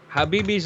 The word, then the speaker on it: Khabib: Habibi?